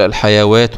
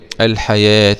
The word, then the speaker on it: الحياة: في هذه الحياة الدنيا، اوعى تقول الحيوات الدنيا، الحيوات لا، هي لما تلاقي الواو عليها علامة الألف الصغيرة كده يبقى بتنطق ألف ولا تنطق إيه؟ واو. الحياة الدنيا، وبرضه هنا النون في إظهار مطلق.